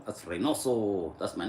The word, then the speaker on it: Reynoso: And then my last name is spelled R E Y N O S O. That's Reoso.